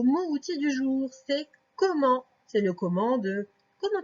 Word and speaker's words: comment: Et donc le comment s'écrit O-ko. Ensuite il y a deux M. Faire le M, c'est avec deux M. Et ensuite le en s'écrit E-N. Et à la fin, il y a un T qu'on n'entend pas.